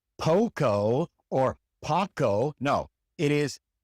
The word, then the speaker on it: poco: The O is always pronounced O. It is never O or A or A. It is always O. The great majority of English speakers who learn Spanish pronounce this letter wrong because they want to pronounce it O, like the long O in English. It is never O. It is just O. O, as in poco, poco.